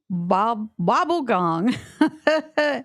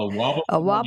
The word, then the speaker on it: Wobblegong: And it's called the I got to pronounce this right. Bobblegong. And his boy. A Wobblegong and his boy.